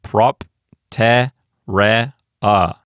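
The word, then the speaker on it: propterea: So our first syllable is prop, and that's a closed syllable. Next is TE, that's an open syllable. And then RE is the next syllable. And then the final syllable consists only of a vowel. It's just the letter A. So we have prop, te, re, a. A is the ultima, re is the penult, te is the antepenult.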